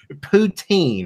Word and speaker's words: poutine: on the is it visit how do you pronounce it putain good it was the poutine poutine right yes man I was struggling not to